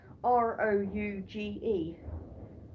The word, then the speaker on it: Rouge: It's spelt R-O-U-G-E.